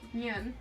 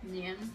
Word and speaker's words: Nyan: You're saying it like a white person. How do you say it? Nyan. Nyan. Nyan.